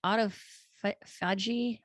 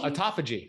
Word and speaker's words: autophagy: talk about the topic of Auto is it auto fudgy oh autophagy yeah autophagy thank you I was like wait